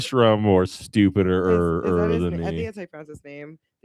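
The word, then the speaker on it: Sherrone Moore: That's right, Sharon Moore. Stupider is than I think me. that's how you pronounce his name.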